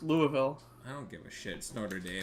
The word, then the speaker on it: Louisville: number 10 Notre Dave dude it's pronounced Louisville I don't give a